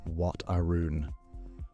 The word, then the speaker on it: Wat Arun: The temples, Wat Pho, Wat Arun, Wat Phra Kaew, are visually stunning beyond what any photograph manages to convey. Wat Pho is said Wat Po-i, Wat Arun is said Wat Arun.